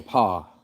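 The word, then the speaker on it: faux pas: a French s the whole word is French PA you don't say yes there's no for PA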